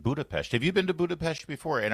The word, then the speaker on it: Budapest: Have you been to Budapest before? And are you pronouncing with the appropriate sh in the Pest?